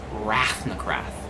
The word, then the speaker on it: Rathnakrath: me to tell Emma what it is it's pronounced rafnacraft that's a cool name no no no that's